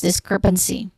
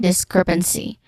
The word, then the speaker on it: discrepancy: So we have second syllable crep, the stressed syllable, discrepancy, n which has a schwa sound, and then C, which is a short E sound. So this is discrepancy.